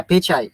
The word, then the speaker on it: Pichai: yes he is from India so pitch yeah pichai Mr pichai okay we'll confirm it well we've